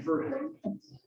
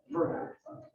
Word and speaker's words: Verhage: Verhage. Verhage. So it's like the rhymes with the hay. Oh, it's the Dutch version. Yes. Okay. Perfect. I want to say it like French. Okay. Verhage. It's Dutch.